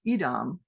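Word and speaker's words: אדום: Red is usually pronounced Edom, but it's spelled the same as Adam.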